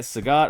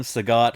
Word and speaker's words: Sagat: We're going to start with, I'll call him Sagat. I know that's the popular pronunciation, but again, since I was a kid and the World Warrior came out, I've called him Sagat. All my friends have. I guess Sagat would be like Bob Saget with an E.T.